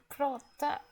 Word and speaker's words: prata: Prata. Prata. Very good. So this is a little bit longer, but you recognize 2 sounds here. The first one is the long A sound, and it's pronounced like like prata.